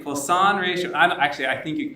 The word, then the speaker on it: Poisson: All right, Poisson ratio. I think you pronounced it correctly.